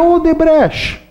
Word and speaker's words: Odebrecht: E a Odebrecht, essa é a pronúncia correta, construtora que também se espalhou pelo mundo.